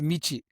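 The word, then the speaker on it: 道: In Japanese, it's pronounced michi, which means road or path.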